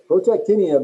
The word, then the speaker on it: protactinium: more proton 91 good protactinium is how you pronounce that big long word that's why we abbreviate